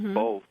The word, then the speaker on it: both: I've heard people say it like with rhyme with oaf or something like both. Mm-hmm. So, well, I've never heard that L sound in there until somebody pointed it out.